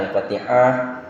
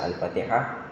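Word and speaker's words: الفاتحة: Contoh yang sering salah dalam baca Al-Fatihah, misalnya Al-Fatihah ini juga pengucapannya harus diperhatikan. Ha-nya ini harus kecil dia. Jadi kalau dia ha-nya besar, ini bisa berbeda.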